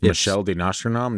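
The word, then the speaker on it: Michel de Nostredame: a banging start really Michelle de nostradam no sorry I didn't think that was his name Michelle oh yeah you said it right Michelle did not he just said it with a more French accent than me I just I said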